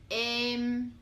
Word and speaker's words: Êm: example Sen and Len Êm This one sounds like 'Same' in English For example, Đêm and